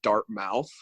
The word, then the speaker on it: Dartmouth: one or two people read it as like dart mouths and in my head I was like it's pronounced Dartmouth and I was like proud of